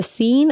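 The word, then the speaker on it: Seine: nothing about no geography it's spelled like cn but it's not said like that it's the the scene i said how you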